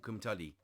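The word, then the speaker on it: Cwmtudu: can but uh but in English it's called kumtali that's how it's pronounced um yeah uh this was the first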